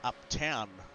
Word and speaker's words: Upton: And Upton is pronounced Uptown as well.